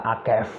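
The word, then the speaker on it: עקב: kejadian 3 ayat 15 itu ada kata akef akef a q e v itu akef ya akef seperti ini cara bacanya eh saya juga belajar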